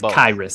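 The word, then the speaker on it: Khyiris: And he goes and I've heard him respond to it's Kyus. That's according to the Chiefs depths chart pronunciation guide. Kyus Tonga.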